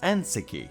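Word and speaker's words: 燕石: get what it means we need to turn its pronunciation around and instead pronounce it the way the Chinese people would which would give us aneki the term isn't all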